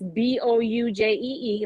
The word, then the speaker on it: Boujee: So you can find me, Project Boujee Designs, on Instagram, Facebook, Project Boujee, and that's Boujee, like it's spelled.